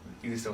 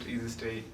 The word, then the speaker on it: Eazistey: Yeah, so we did all of that, and then found Eazistey was taken. Then we spell it Eazistey, EASYSTAY.